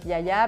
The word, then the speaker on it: Giagia: Yaya pourquoi j'ai appelé le le coffeeh shop Yaya parce que en fait Yaya ça veut dire grand-mère en grec et donc en effet ça s'écrit jaajia mais ça se prononce Yaya et les grand-mères grecques en fait moi ma